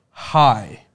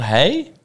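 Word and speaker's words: Hay: I'm pronouncing it like the locals do. They always say high. We're in high, mate. It's not hey? Nah, they say it high.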